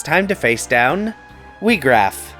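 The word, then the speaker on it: Wiegraf: So with that new equipment, it's time to face down Weegraf. Yep, that is how it's pronounced.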